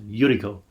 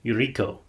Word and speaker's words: Yuriko: way they're pronouncing it it sounds like the emphasis is on the first syllable so because he pronounced yuriko not eureko oh but yeah looks